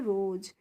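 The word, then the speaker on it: rose: और मैंने आपको बताया एस के बाद जब ई आती है तो उसका हम उच्चारण करते हैं ज तो इसे हम रोस नहीं पढ़ते हैं इसको पढ़ते हैं रोज ऐसे ही डीओ एस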